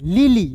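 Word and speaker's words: lily: का ल हो जाएगा और याद रखिए किसी वर्ड्स के अंतिम में यदि वाई आपको दिखता है तो इसका का उच्चारण ई के रूप में करते हैं।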